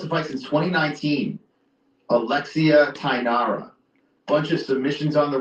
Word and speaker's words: Tainara: Tainara.